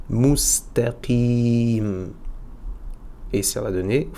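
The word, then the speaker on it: مستقيم: un tanwin à l'écrit, je vais prononcer un soukoun à l'oral. Donc, mustaqim.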